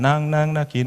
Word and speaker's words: knocking: Knocking on Heaven's Door. 그래서 이제 Knocking on 아프리카 어때? 우리 아프리카를 향해 문을 두드리러 가잖아. 그랬더니 제 옆에 있던 그 친구가 대표님 NOA 좋은데요. 그래서 야 K가 묵음이야.